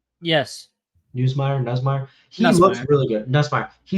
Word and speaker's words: Nussmeier: Nussmeier.